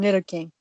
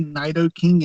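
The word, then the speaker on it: Nidoking: Pokemon that would be a new queen and knitter King right crystal same way the right same way the thing is whenever I was younger I used to say Knight o king and night o Queen now just hear me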